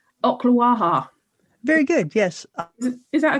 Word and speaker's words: Ocklawaha: now I've got to see if I can pronounce this place right. Ocklawaha.